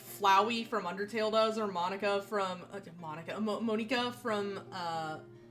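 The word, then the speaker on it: Monika: nerd and say that that's not how it's pronounced. It's Monica, but uh I haven't even played Dokyoki Literature Club.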